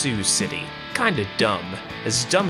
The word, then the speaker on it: Sioux City: be a cool idea to stop here in sea oaks seahawks city apparently it's pronounced sioux city kind of dumb as dumb as this slow